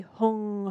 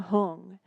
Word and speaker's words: Hung: meditate is chanting and we chant the syllable hung which maybe is in one of these pictures yes it's here and so you say Hong Hong and I'll explain all